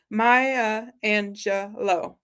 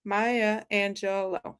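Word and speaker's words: Maya Angelou: has been so kind to like, uh, phonetically pronounce it for us. Maya Angelo. Maya Angelo.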